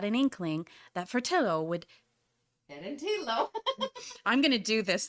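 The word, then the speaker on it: Ferentillo: That's pronounced Ferentilo, which is a little Fedentino. town. Oh, Okay. The following day, Tilly had a wonderful surprise for me. After borrowing Giovanni's car, we set off for Fornantilo.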